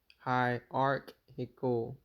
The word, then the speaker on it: hierarchical: know what it is but Hier Aro oh hierar that's an Aro hierarchical hierarchical okay we're going to make sure we always say it like that next time so for